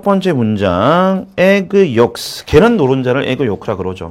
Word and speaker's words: yolks: egg yolks. 계란 노른자를 egg yolk라 그러죠. 그죠? L은 묵음이고, 계란 노른자.